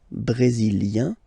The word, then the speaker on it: brésilien: Le Brésil, brésilien, yin, brésilien, like we had for canadien, brésilien, feminine form, brésilienne, yen, brésilienne.